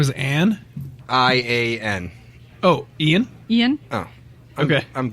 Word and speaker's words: Ian: I-A-N.